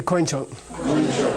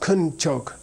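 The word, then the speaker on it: དཀོན་མཆོག: Say koinchok. This is like the only word in Tibetan where you have this thing called a diphthong where you say an oi sound, oi, like oi gavolt, right?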